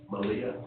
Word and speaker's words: Melia: Malia. Thank you. M-E-L-I-A. Thank you. Is that pronounced Amelia. Amelia? Like Amelia, but with no A at the start.